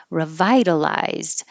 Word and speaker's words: revitalized: So revitalized, revitalized. 1, 2, 3, 4, revitalized. And the stressed, and the vowel in the stressed syllable is I, revitalized.